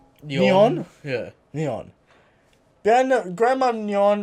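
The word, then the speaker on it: Nyon: yes and beautiful grandma your how do you pronounce this it's NY o n yon yeah neon then grandmother on the scones bar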